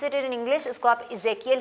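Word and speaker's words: Ezekiel: आप क्या कहते हैं इजियल सो इफ you pronounce it in English उसको आप इजे कियल ही ई से शुरू हो रहा है ना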